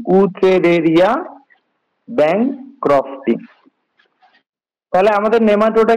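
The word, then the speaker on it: Wuchereria: তো এইটার উচ্চারণ হচ্ছে বউশেরিয়া, ঠিক আছে? উচ্চারণ হবে অনেকটা ভি এর মতো। আর এইটার সাথে আছে ব্যাংক্রফটি, BANCROFTI, ব্যাংক্রফটি, উচেরেরিয়া ব্যাংক্রফটি বা বচেরেরিয়া ব্যাংক্রফটি, অথবা যেটাই বলো একই, ঠিক আছে?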